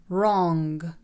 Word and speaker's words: wrong: إذا جاء حرف ال W يليه حرف ال R فإن حرف ال W لا يلفظ. حرف ال W لا يلفظ. Right, right. Wrong, wrong.